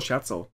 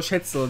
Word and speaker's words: Scherzel: Ist nur Scherzel. Das ist ja Scherzel. Was das ist jetzt, oder Schätzel, wie so Schatz. Nee, Scherzel. Und sie hat dazu geschrieben mit schön österreichisch ausgesprochenem L. Scherzel.